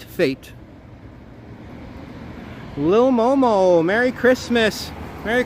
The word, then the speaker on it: F8: I believe it's pronounced Fate. Fate.